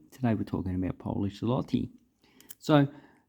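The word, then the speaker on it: złoty: So this is zloty. That's how you actually pronounce that currency.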